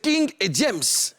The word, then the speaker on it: King Ediems: Est-ce que j'ai bien prononcé? J'ai dit c'est King et James.